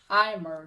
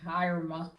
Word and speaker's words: Eimer: Eimer, not Irma.